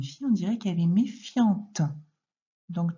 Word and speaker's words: méfiant: Et au féminin, si c'était une fille, on dirait qu'elle est méfiante. Donc, tu dois comprendre qu'il y a une lettre muette à la fin de méfiant.